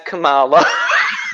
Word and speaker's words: Kamala: Lisa as Kamala.